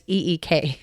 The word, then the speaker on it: Eek: The population of Eek, and I'm hoping I'm saying it right, it's EEK, so Eek.